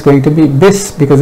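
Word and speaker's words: بسم: going to go, it's not going to be pronounced, so it will become bis. It should be Bismillah, but it's going to be bis because it's hamzatul wasl.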